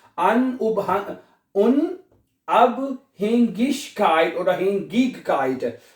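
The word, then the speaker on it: Unabhängigkeit: गाफ की अन उब उन अब हेंगिश काइट और हग काइट जहां पे आई जी इकट्ठा आता है उसको गाफ या श की दोनों आ प्रोनाउंस कर सकते हैं आप ठीक है तो ये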